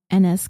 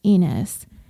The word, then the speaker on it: Ennis: And speaking of mispronunciations, I was also informed that I mispronounced Ennis Cosby's name throughout the entire episode. I was told it was Ennis, and I was saying Enos.